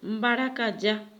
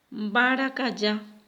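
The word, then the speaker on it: mbarakaja: Gato en guaraní es baracayá. Baracayá. Y acá voy a escribir baracayá. Esta es una J que en guaraní se pronuncia como la Y.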